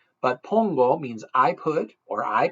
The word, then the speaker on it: pongo: 101 Dalmatians that's not Pango that's Pongo O's are always o in Spanish but Pongo means I put or